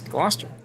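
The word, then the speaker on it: Gloucester: Locals pronounce Warcaster as Wooster and Glouester as Glouester.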